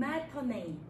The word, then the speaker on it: matinee: 그 다음에 우리가 한국말로 쓰면 마티네 뭐 이렇게 얘기하지만 우리가 발음을 할 때는 matinee 하고 발음을 합니다.